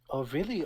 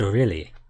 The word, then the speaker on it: Orly: Last name sounds like O'Reilly.